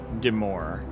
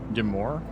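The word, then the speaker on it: de Maure: And Deir is pronounced more like Deore. Deore.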